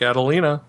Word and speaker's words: Adelina: You like Adelina? Rhymes with Catalina.